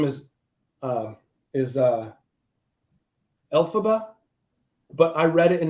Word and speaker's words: Elphaba: it was years that I called her El Faba before I actually saw the musical production and saw that they were pronouncing it Elphaba which is different than the way I pronounced it and different than the